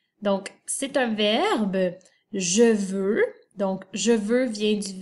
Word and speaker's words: veux: v e une x il en retient bien le x à la fin du mou il est muet et caen et le